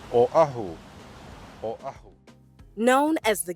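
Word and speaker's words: Oʻahu: that were filmed there this island name is pronounced Oahu or a known as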